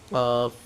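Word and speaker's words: ق: বরাবর উপরে তালুর সঙ্গে লাগাইয়া এটাও মোটা হবে কফ উচ্চারণটা দেখেন কফ কফ এখন আমরা পড়বো পাঁচ নাম্বার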